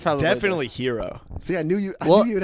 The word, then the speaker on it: gyro: How do you pronounce that? Hero. Superhero, baby. What do you say? I typically will say gyro. I know it's wrong. I don't think that's wrong.